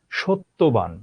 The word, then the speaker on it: সত্যবান: যেমন সত্যবান, জফলার উচ্চারণ নাই, তটা দ্বিত্ব হলো।